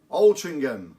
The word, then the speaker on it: Altrincham: OL Chingam Gauss walk Altrincham everybody pronounces it with a G but it actually adds